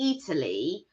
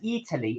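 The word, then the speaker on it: Eataly: little place called Italy now Italy it's spelled like Italy but e a rather than the I so uh it's a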